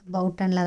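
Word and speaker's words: Buiten: நாங்கள் இருக்கிறது வந்து ஆல்மேர் பவுட்டனில் தான் நாங்கள் இருக்கோம். இங்கே ப்ரொனவுன்ஸ் அப்படி தான், பியூட்டன் கிடையாது, பவுட்டன் தான் இங்கே ப்ரொனவுன்ஸு.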